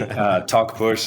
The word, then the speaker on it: Talkpush: And secondly, Talkpush is just the way you pronounce it, talking and pushing.